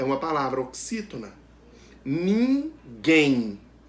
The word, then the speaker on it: ninguém: Ninguém. O quem é a sílaba pronunciada com mais força, a sílaba tônica. Também é a última. Então, a palavra ninguém é oxítona.